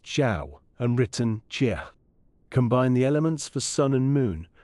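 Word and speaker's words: 曌: This character, pronounced Zhao and written Jia, combined the elements for sun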